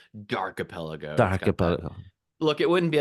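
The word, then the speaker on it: D'Archipelago: but it's like you just say you say archipelago but then the D in front of it so dark aelo Darko look it wouldn't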